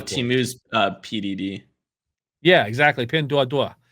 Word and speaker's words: Pinduoduo: Yeah, exactly, Pinduoduo. I said it right because I hear him say that all the time. People will say Pinduo.